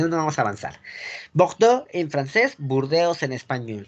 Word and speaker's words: Bordeaux: Bordeaux. No vamos a empezar a hablar, porque nada más tenemos 10 minutos y ya hasta donde llegue, porque si no, no vamos a avanzar. Bordeaux en francés, Burdeos en español.